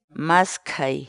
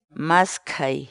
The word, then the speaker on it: maskhay: uma série vídeos onde nós ensinamos você a pronunciar determinadas palavras em Quechua portanto a nossa palavra do dia para hoje é é mas Kay é mas Kay é mas Kay E aí em português a palavra quichua masquei